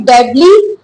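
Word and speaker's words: in debt: डेप्ट नहीं पढ़ते। बी का साउंड इसमें साइलेंट होता है। आगे चल चलते हैं और देखते हैं कि डेडली या फेटल।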